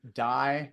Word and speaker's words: Dai: with that medium and it's just my name die just remember it's spelled a i and then menu m n